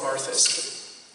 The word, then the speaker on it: Barthas: Louis Bartha, it's spelled Barthas, but I don't speak French, but it's pronounced Bartha.